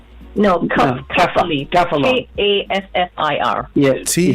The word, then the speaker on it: kaffir: Kaffir. Yeah. It's a type of Kaffir. Oh, kaffir. It's actually pronounced kaffir, and that's actually comes from Africa.